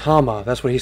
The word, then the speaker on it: Hauma: honestly i don't want to know so it's pronounced hammer that's what he said that's what we'll call